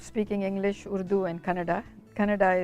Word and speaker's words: Kannada: Kannada is the same as Canada, but spelled with a K.